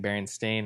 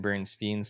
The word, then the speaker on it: Berenstain: the berenstain bears and I'm just gonna alternate saying Berenstain and Bernstein's so just fill it in the blanks because it's still in my head I don't even know which one it is I mean I know it's Berenstain but it's like deep